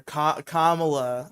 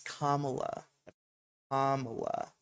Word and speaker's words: Kamala: out to Biden and Cala or Kamala I suppose I've I've had this correction Le levied upon me many a time it's kamla comma make sure you're pronouncing it comma like a like a punctuation symbol I'm all alone for